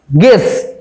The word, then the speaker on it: guess: গেস, GUESS গেস, গেস মানে অনুমান করা, ধরো ইউ নেই, GESS গেস, তাও তো উচ্চারিত হচ্ছে, অর্থাৎ ইউ থাকলেও এখানে ইউ এর কাজ নেই।